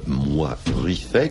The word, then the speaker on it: Moy-Ruifey: Rouge et le Noir, donc en l'occurrence Karl Moy-Ruiffet. Bravo pour la prononciation. Oui, comment voulez que je dise Ah je ne sais pas, mais enfin c'est plus facile à dire que Valbay Kassem. Certains se trompent. Moy-Ruiffet.